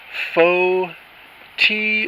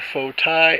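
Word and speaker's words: fo-ti: That is faux tea or faux Thai. F-O is the first word. T-I is the second word. Pronounce it how you will. Correct me if you want. Faux tea, faux Thai.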